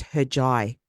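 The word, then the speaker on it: Hercai: just like um so in Turkey they pronounce the letter c as a j sound like a j right so it's spelled h r c a i but it's pronounced heri heri okay yeah and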